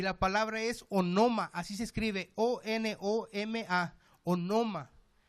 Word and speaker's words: onoma: Y la palabra es onoma, así se escribe, O-N-O-M-A, onoma.